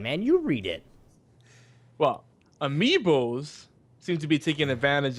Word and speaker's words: amiibos: Thanks to games like, pronounce that. Hyrule Warriors, Mario Zelda. Kart 8, the critically acclaimed Bayonetta 2. Amiiboss seems to take advantage of the Disney...